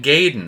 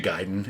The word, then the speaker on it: Gaiden: now uh me and my friends we always grew up calling this game ninja gaiden because it's spelled a-i-d-e-n ninja gayden that's what i thought it was that's what we all thought it was come to find out everyone else says ninja gaiden everyone except my group